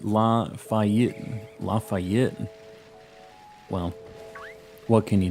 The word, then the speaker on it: Lafayette: It's pronounced Lafayette.